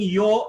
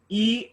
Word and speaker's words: yo: Vikram, you were pronouncing yo as E and later on some other alphabet. Okay, it's yo. Y-O is yo. Only Y is E.